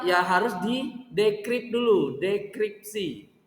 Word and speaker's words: dekripsi: Ya harus di dekrip dulu, dekripsi. Bukan deskripsi ya, dekripsi. Dekripsi.